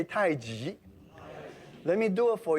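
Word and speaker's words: 太極: now that's the word seiji seiji sometimes we mispronounced as tai chi which many of you because it says chi for many years i should be pronounced tai ji g means opposite contrast the tree grows from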